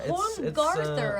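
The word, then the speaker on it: Holmgarðr: Yeah, Holmgarther. I think that funny D is pronounced like a th.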